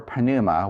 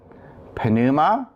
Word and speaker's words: πνευμα: let's say the paradigm for Pinilla so let's pronounce the paradise for Ponemah which means spirit so say it with me Panama Panama toss pannu mati Panama Panama tow pen